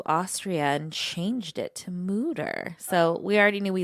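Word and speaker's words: Mütter: Well, we went to the Mutter Museum. The Mutter Museum.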